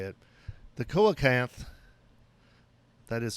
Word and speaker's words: coelacanth: the coelacanth which is not pronounced kolentkoken as i have always wanted to say it the koakanth that is coelacanth uh is an ancient fish that was thought